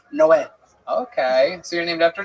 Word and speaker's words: Noé: the Spanish translation, it's Noe is Noah, but it's pronounced Noé.